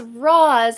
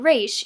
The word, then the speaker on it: Ra's: Ra's al Ghul, and he's still pronouncing it as Roz and not Raish, even though all the League characters Miseo, Raish himself, Nisa, keep calling him Raish.